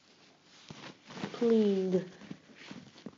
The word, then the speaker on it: cleaned: Cleaned. Cleaned. Well, the d sound seems to be part of the previous syllable.